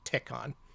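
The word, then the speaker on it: Tehkan: that's pronounced in Japanese it's the Katakana te which is elongated and then Khan so it's pronounced tecon they started uh they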